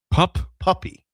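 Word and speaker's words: Poppe: Puppy. P-O-P-P-E is pronounced puppy?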